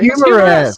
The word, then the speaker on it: Humoresque: How you say his name? Humoresk? Humorous. Humorous. Oh, Humorous. Humoresk. Ah, that makes sense.